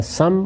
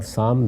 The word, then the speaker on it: سام: ہے اور ایک یافت۔ یافت اور یافس دونوں تلفظ ہیں، اسی طرح سم اور سام دونوں تلفظ ہیں۔ ان